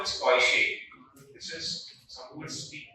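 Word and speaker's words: Deutsch: This is pronounced as Koishe. This is, some would speak huge, but it's actually not pronounced huge.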